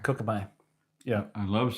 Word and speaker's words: Kokopelli: Pronounced Kokopelli. Kokopelli.